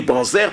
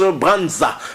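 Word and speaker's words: Branser: nous appelons ici Marie Branzer parce que son nom s'écrit comme ça, mais en Allemagne, c'est pas comme ça qu'on prononce, on prononce Branza, Marie Branza.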